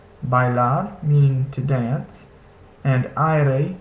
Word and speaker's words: bailar: So we see this combination in words like bailar, meaning to dance, and aire, meaning air.